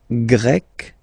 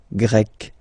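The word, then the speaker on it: grec: and then you've got GRE masculine form GRE feminine form you write them differently but then if you listen carefully gre gre you pronounce them the same way okay Portugal pug portuges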